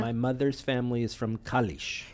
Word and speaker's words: Kalisz: my mother's family is from Kalisz. Kalisz, beautifully.